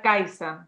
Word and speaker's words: Kajsa: Bueno, yo sé que mi nombre es un poco complicado porque en sueco se pronuncia Kaisa, porque claro, aquí la J no se pronuncia como J, es más como Y, pero bueno, no importa.